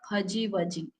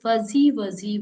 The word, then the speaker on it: fuzzy wuzzy: was a bear so whenever it is said the sound should be Z not J it is not faji waji it is fuzzy Wuzzy was a bear fuzzy